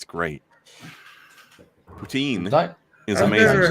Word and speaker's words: poutine: you know we're an English-speaking country, so it's poutine in English. Yeah, it's just the Potanian. spelling. I think It- we pronounce our not even a spelling a lot.